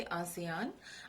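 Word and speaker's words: ASEAN: विस्तृत रूप आसियान, ये इस तरह से लिखा हुआ भी आ सकता है, इसको आप प्रोनाउंस करोगे आसियान।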